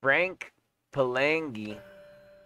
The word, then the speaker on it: Frank Palangi: Frank Palangi.